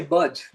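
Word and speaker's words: BUD/S: You say buds.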